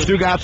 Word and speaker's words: Stugotz: So, but it is Stugotz. We laugh on our show where I think you, like, it's just one word, Stugotz. And the way you say it, the way you pronounce it in the promos that you did on Friday and stuff, you kind of have it split up where Stu is my first name and Gotz is my last name.